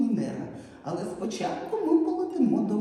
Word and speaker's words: Венера: Венера. І відповідь Венера. Куди падає наголос? слові Венера. Саме на третій склад.